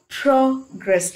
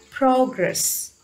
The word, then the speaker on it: progress: on the second syllable look at this word progress if it is a noun it is progress if it is a adverb sorry it is a verb it the stress falls on the second syllable so you just progress